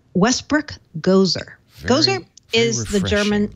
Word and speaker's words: Gose: It's pronounced G-O-S-E, but it's pronounced Gose. Gose. Like Gose. Gose. Yeah, some people say Gose. I've seen people say Gose. Some say Gose. I say Gozer because I'm a Bostonian